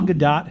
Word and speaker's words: Gadot: starred ryan reynolds gal gadot who was wonder woman what i listened to how you're supposed to pronounce it ga dot not a hard tea but like a soft tea what the [ __